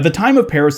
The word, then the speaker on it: Jean-Baptiste: a man named Jean-Baptiste (or Jean-Baptiste as would be the proper French pronunciation).